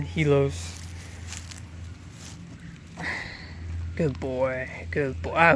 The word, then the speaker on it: Helios: god of the sun, but I made the I silent because it makes it easier to pronounce the name for people who don't know how to pronounce it. It's spelled Helios, but the I is silent, so I named him Helios.